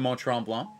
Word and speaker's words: Mont-Tremblant: Last weekend, I was in Mont-Tremblant, and that's how you say it if you're French. And if you're English, you just say Mont.